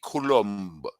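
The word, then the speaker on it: Coulombe: a FR a French speaking country it's Danny Kul Danny colum there you go well Danny colum came out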